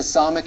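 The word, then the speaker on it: ס: That's the Samic in Hebrew, and it's one of the S sounds or S consonants in Hebrew.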